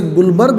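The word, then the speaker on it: Guldberg: ये नियम दिया था गुल्डबर्ग, वैसे गुलबर्ग बोला जाता है, डी साइलेंट रखा जाता है, फिर भी रीड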